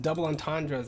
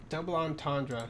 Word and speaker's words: double entendre: Double entendre. Double? What is this double? Double entendre. Oh no, we've been saying it wrong. Double entendre. This is bad. Double entendre. Double entendre. I guess it's French.